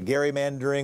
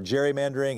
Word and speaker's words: gerrymandering: to do something about the gerrymandering or gerrymandering, and yeah, it was Elbridge Gerry was how apparently the guy pronounced his name.